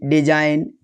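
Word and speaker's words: design: अगर जी के बाद एन आता है तो जी साइलेंट होता है। Examples campaign, साइन, डिजाइन।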